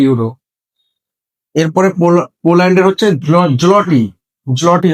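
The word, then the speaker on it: złoty: এরপরে পোল্যান্ডের হচ্ছে জলটি, জলটি হবে উচ্চারণটা, হাঙ্গেরি হবে ফ্লোরিড।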